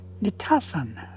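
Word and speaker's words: Nitassan: They called it Nitasan. Nitasan. N-I-T-A-S-S-A-N is how we spell it now.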